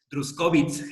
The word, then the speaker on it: Druskowitz: De Nietzsche, pues bueno, y de hecho así de una vez me corrijo, porque hace rato en aras de quererlo pronunciar pues rápido, no tuve el cuidado, con Helen von Druskowitz, es que todavía estoy